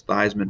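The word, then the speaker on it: Theismann: his real last name because theisman rhymes with heisman and he was a heisman trophy winner so again another tangent i'm sorry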